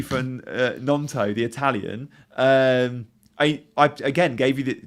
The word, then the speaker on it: Gnonto: And it's Nonto. You don't pronounce the G.